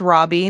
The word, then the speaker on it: Rabe: name cuz it's called it's pronounced Robbie, but it's r a b as in boy, e as in Edward.